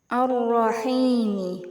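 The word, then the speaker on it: الرحيم: Cara bacanya huruf lam dimasukkan ke huruf ro. Ar-Rahmani, Ar-Rahimi.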